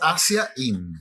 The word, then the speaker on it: Azaín: ¿Cómo se dice? Azaín. No me cambié el acento a esta altura del partido. Es Azaín.